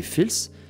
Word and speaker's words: fals: l'Afrique du Nord et le mot false est aujourd'hui prononcé fils et c'est une subdivision